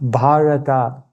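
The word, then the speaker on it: भारत: And it's made up of 3 syllables. Bha means bhav, which means emotion. Ra means rag, which means melody. And ta means tal, which means beat.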